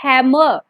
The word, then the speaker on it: hammer: जैसे यहाँ पर हैमर नहीं बोलेंगे आप इसको, हैमर रे नहीं बोलेंगे, हैमर, आर को लिटिल बिट आप यहाँ पर साइलेंट कर दोगे.